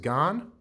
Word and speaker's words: GAN: i've got this pinarello i believe it's pronounced gone and one of my